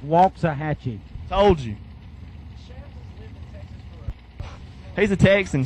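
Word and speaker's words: Waxahachie: second round shab said it's pronounced walks a hatchet told you he's a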